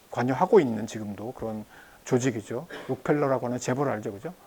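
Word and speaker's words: Rockefeller: 록펠러라고 하는 재벌 알죠, 그죠? 로커펠러라고 얘기를 미국식으로 발음하는데 어쨌든 이제 그런 기구들이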